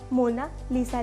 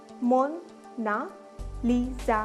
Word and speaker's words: Mona Lisa: कोई इसको मोना लिसा बुलाता है तो कोई इसको मोना लीजा बुलाता है। इटालियन में इसकी करेक्ट प्रोनाउंसिएशन मोना लीजा है।